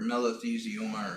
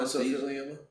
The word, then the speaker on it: mesothelioma: Yeah, or melathioma or something. I don't know. Yeah. Melanoma? No, you said. I think you said it right. Mesothelioma.